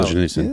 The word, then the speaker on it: Solzhenitsyn: It's how do you pronounce it? Solzhenitsyn or no? Solzhenitsyn.